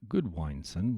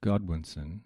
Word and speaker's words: Godwinson: more politics leading up to 1065 when Harold Goodwineson was elected, yes, elected, King of England. You said the name wrong again.